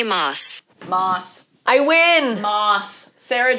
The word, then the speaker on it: Maas: Well, we know how you pronounce it. Ready? Sarah J. Maas. Maas.